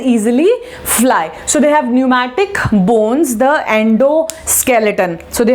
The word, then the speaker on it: pneumatic: The type of bones which are present, they have pneumatic bones. P is silent here.